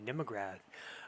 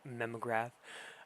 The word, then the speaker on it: Mnemograph: And welcome to the Nemograph. Um, that's right. I'm pronouncing that with the N and not the N. So, the Nemograph instead of the memograph.